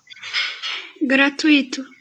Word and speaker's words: gratuito: assento e a próxima gratuito isso gratuito é trem é junto tá ela é um ditongo e ela é paroxítona separem aí ó gra